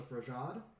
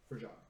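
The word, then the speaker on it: Frejad: They were simply known as the Frajad, which roughly translates into the people of ice. And that's spelled F-R-E-J-A-D, Frajad.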